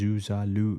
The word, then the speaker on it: Zuzalu: Pronunciation: the term is pronounced as Zuzalu in English, with variations noted in Serbian context.